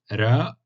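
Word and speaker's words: ر: Harf al-ra, ça se prononce r, r roulé, r.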